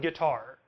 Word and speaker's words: guitar: Take a word like guitar. Here, the initial part, g, is weaker than the follow-up, tar.